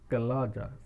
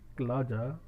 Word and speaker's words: chalaza: बोलते हैं, या उसकी ओरिजिन को बोलते हैं क्लाजा, CHALAZA, क्लाजा। आप पेज को ध्यान से कर देखें, सबसे ऊपर की तरफ स्पेलिंग दे रखी है CHALAZA, क्लाजा।